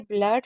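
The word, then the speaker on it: blood: हैं इसलिए float फ्लड मैंने बोला ना दो तीन वर्ड ऐसे हैं जिसमें डबल ओ को आ पढ़ते हैं। एक है ब्लड फ्लड ठीक है फ्ल फ्लोर और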